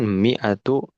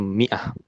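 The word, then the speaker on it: مائة: Ah, kalau perempuan mi'atu imro'atin. Mi'atu Mi'atu imro'atin. imro'atin. Imro'atin. Ya, dibacanya boleh mi'atu atau mi'ah. Mi'ah itu 100.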